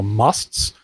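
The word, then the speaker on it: mast: according to Meher Baba, musts. Which is spelled M-A-S-T, and they are, basically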